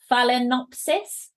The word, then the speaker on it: Phalaenopsis: Phalaenopsis.